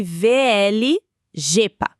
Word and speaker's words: VL-JEPA: E olha só, pra gente começar com o pé direito, pronuncia-se VL G jeepa. Isso, Gepa.